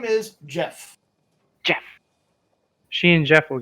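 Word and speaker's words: Geoff: become good friends but it's not with a g or not with a j it's spelled with a g g o f i'm gonna pronounce jeff it's french well uh okay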